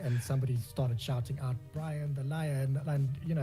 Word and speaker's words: Brian: lion-like in any way, simply because my name rhymes with lion. It was literally like we were at a braai one day and somebody started shouting out Brian the Lion, and you